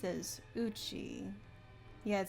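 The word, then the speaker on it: 家: So this, I believe this kanji is pronounced as uchi.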